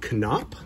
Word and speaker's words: Knoop: collection is Bobby canop and yes it is pronounced canop I looked it up you can find a video of him being elected into the um Angels Hall of Fame and the address announcer says can up it's also on baseball reference and but I've